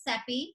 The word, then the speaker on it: Cepee: My name is Cepee, and I always say Cepee rhymes with Peppy.